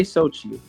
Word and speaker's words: Xochi: But you could just say Xochi.